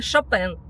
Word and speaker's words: Chopin: сказать, что да, это ваш соотечественник, великий композитор Чопен. Но в нашем рассказе мы будем применять фамилию именно в таком контексте Шапен, чтоб нас поняли все и чтоб ну не писали лишние комментарии, как правильно произносить.